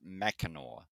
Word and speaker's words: Mackinac: I always pronounced it but yeah I so it's spelled yeah yeah I I recently learned that it was mackinore yeah and that you can get there with